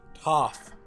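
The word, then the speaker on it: Toph: in the world's name tov toff like an f like top top like yeah okay the subtitles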